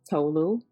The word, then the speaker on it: Tolu: it correctly okay uh my name is Dr tolu yes yeah okay so you and I